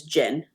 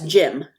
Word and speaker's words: Jin: Like there's a thread where people keep mispronouncing the main character's name, who's Jin, Jin, as Jim, Jim.